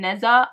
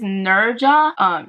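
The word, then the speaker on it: Nezha: so I called him Neza, but his name is not Neza. His name is Nurja. Nurja, I think, because the H is like a J sound, but in my head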